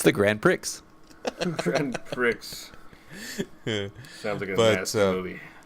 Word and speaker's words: Grand Prix: forgetting that I it's Grand Prix could the X is silent but funny my my